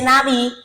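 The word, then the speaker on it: נביא: La gematría de esta palabra profeta, en el hebreo se dice naví o naví, se escribe con 3 consonantes, y que la sumatoria de estas 3 consonantes me da 7.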